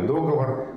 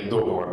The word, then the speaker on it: договор: норма, о том, что теперь правильный договор, хотя ударение «договор» как допустимое в разговорной речи еще в словаре 59 года фиксируется.